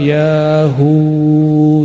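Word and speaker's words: يا هو: Itu para imam kita berdoa, ya hu, ya hu. Coba baca sama-sama. Yahu, Yahu, Yahu. Bukan hu, hu.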